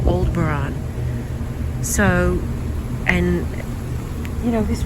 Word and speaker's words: Aldebaran: Aldebaran, not Aldebaran. I know a lot of people say it's Aldebaran. It's Aldebaran. Was the way he pronounced it, telepathically.